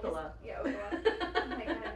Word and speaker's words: Ocala: It's like, no, it's like Ocala.